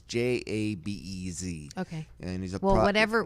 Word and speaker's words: Jabez: Gabral? Is it Gabral? No, Jabez. Oh, okay. Jabez. Okay. I pronounce it wrong, but it's Jabez.